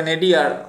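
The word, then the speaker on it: nadir: আর কি আছে নাইডিয়ার, মানে নাইদার আর কি, নাদিয়ার এইটা উচ্চারণটা, ঠিক আছে।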